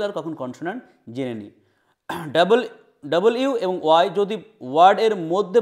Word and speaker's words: W: কি আমাদের ইংরেজিতে দুটো সেমি ভায়েল আছে এক ডবলিউ আমরা ডব পড়ি ড সঠিক উচ্চারণটা হচছে কি ডবল ইউ ডব ইউ এবং ওয়াই আর কলড সেমি ভায়েল